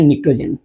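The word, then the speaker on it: pnictogen: और कलेक्टिवली अगर इसको देखा जाए तो इसको बोलते हैं निकोजेन। पी साइलेंट है।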